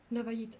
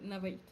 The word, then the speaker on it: Navayit: I say that to Navayit. Navay? Navay? No, you said it right the first time.